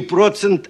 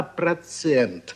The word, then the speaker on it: процент: очень хорошо Прекрасно прекрасно не процент а процент вам просто необходимо друзья